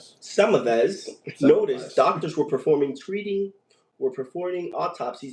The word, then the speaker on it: Semmelweis: I'm going to need a little bit of help with the pronunciation. Ignaz Simuelis? Samavez.